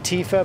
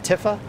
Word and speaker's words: Tifa: they're saying it wrong how are you saying it tiffa i get oh tifa versus tiffa okay as in short for tiffany yeah 20 is plenty